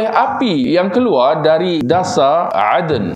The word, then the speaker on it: Aden: yang keluar dari dasar Aden Aden ni nama tempat di Yaman Eden e d e n atau Aden atau Eden lah ejaan aalah ni bahasa Arabnya Aden ini pun satu